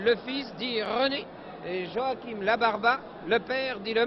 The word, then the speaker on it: Joachim: Que Taffanelli, qui écorce, veuille bien m'excuser de cette prononciation un peu espagnole. Joachim Labarba et non Joachim.